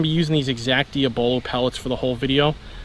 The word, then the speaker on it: Diabolo: Now before anyone goes and corrects me on the pronunciation, this is Diabolo, not Diabolo.